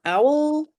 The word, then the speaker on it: OWWL: systems um logo and Owl is spelled with two W's because it stands for Ontario Wayne Wyoming and Livingston counties there are 42 libraries